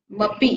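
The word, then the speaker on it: तैजसमपि: तेजसम अपि, तेजसम अपि, अ का प्रोनाउंस हो रहा है, अ का प्रोनाउंस होना नहीं चाहिए, तेजसम अपि, मपी है ना।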